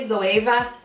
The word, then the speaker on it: Zoeva: I know some people say Zoeva. I think it's just in Ireland we'd pronounce it Eva, that's why I'm going with that.